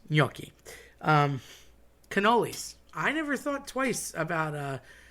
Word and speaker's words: cannoli: I always said cannoli, always heard cannoli, but my buddies that are from northern Jersey and New York area say ganol. And again, that C turns into a G. No G's involved, nothing about it, not a thing, but they will say that.